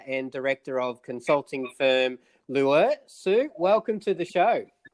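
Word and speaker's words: Lueur: So is it Lure or is that how you pronounce it? It is Lure, which I selected cleverly as a consultant that no one can spell, remember or pronounce.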